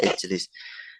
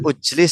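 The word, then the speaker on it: اِجْلِسْ: Kenapa di kasroh? Karena ain fiilnya tidak dhamma. Jadilah ijlis. Kalau kita bacanya ujlis kan nggak enak toh? Ujlis nggak enak. Makanya ijlis, ringan, lebih ringan ijlis.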